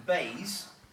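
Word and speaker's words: BEIS: energy and industrial strategy pronounced the bass the sorts of rhymes is beige do not smoke bees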